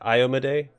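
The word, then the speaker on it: Iomedae: paladin of was it I AMA day that's how you pronounce it I looked it up I owe Maddie and ice might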